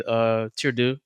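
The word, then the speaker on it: Tardieu: that be the modified Ashworth or the modified Tirdu. That's how you pronounce it.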